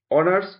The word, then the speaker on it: honors: He is just honors graduate. এখানে সঠিক আর্টিকেলটি বসবে এন, কারণ এইচ এর উচ্চারণ অ এর মতো হয়েছে।